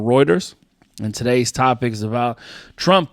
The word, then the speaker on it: Reuters: go to YouTube and type in how to pronounce is uh playing right now. I'm just trying to wait. Reuters Reuters.